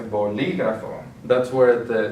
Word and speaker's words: bolígrafo: So since we have the accent on the I, we're going to say bolígrafo.